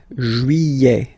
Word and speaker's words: juillet: Juillet. Don't pronounce this final T, E-T here at the end.